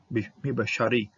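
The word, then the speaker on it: מִבְּשָׂרִי: bit like this one, this particular shaba legally would not be pronounced, but it's underneath the dagesh, and so you gotta have something to start that next syllable, okay. Think of this next syllable requiring some kind of vowel pointing. So mi beshar, mi beshar, mi beshari, mi beshari, mi beshari, from my flesh.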